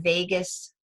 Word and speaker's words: vagus: The Vagus Smoothie, and it's V Victor Agus, not like Las Vegas. So it's a U, not an E. The vagus nerve, some people pronounce it vagus nerve, but it's Vagus Smoothie.